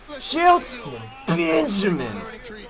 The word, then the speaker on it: Shelton Benjamin: You didn't say it right. Shelton Benjamin. There you go. That's how you say it.